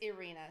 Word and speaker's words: Irina: So if I see you in front of me, I will say Ira, but my full name is Irina. So that is a correct name. Irina.